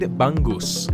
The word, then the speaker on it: bangus: next dish is fried bangus I've been learning how to speak various Filipino languages like Tagalog and bisaya and I still can never pronounce NG that is in the word bangus okay but besides my